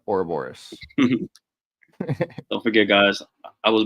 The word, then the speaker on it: Ouroboros: Did I say it right? Ouroboros? Mm-hmm. Yep, Ouroboros.